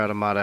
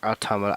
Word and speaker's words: Automata: it's a bit from Nier Automata or Automata. I still haven't figured out which one of those is the correct pronunciation. I think either one is good.